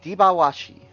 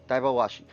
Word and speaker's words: Dabashi: spirits uh wind Elemental pronounced deashi or dabashi sorry dabashi the name means horse